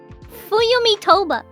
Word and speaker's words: Fuyumi Toba: Just send me It's yeah, no, it's pronounced Fuyumi Toba.